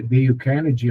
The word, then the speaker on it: Dale Carnegie: O nome é Dale Carnegie, a pronúncia, mas é Dale, D-A-L-E, Carnegie, foi em PDF, tá?